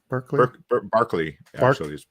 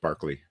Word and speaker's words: Berkeley: did this um Berkeley Barkley it's pronounced Barkley oh yeah yeah sparkly